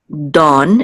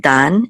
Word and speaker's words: Dan: And this is dawn instead of dan. It's dawn, almost like dawn, right? Okay, so like the rising of the dawn or something like that.